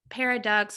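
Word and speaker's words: Paradoxx: i think that that's it's spelled paradox with two x's on the end and stuff but it sounds like paradox and there are a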